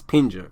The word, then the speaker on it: Pinger: It's not Pager, it's Pinger.